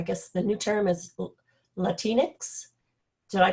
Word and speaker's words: Latinx: hispanics or i guess the new term is latinx did i pronounce that correct amy that's an x yes